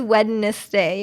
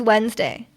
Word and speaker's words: Wednesday: like no one says wedness day you know it's it's just Wednesday I guess the the N goes in like before the D you know like it's